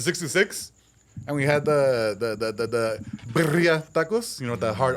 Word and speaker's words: birria: And we had the birria tacos, you know, the hard R.